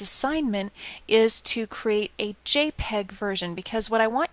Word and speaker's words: JPEG: just going to change it to jpeg so jpeg is pronounced jpeg let's not do the 2001 we'll